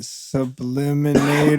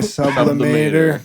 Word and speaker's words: sublimator: Is it subliminator or sublimator? Sublimator, yeah.